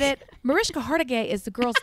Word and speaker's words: Hargitay: Mariska The Hargage? First time that I said it, Mariska Hargitay is the girl's name.